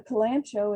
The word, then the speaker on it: kalanchoe: fun plants as well the kalanchoe is how i pronounce it it can be also pronounced cowl and koei has a variety of